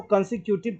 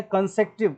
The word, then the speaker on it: consecutive: मैं बचपन से इसको कंसिक्यूटिव पढ़ता रहा हूँ, बड़े होने के बाद कंसेक्टिव पढ़ना शुरू किया, तो ये होता है कंसेक्टिव करेक्ट प्रोनाउंसिएशन, जबकि लिखते हैं हम कंसिक्यूटिव, ऐसे लिखते हैं हम कंसिक्यूटिव।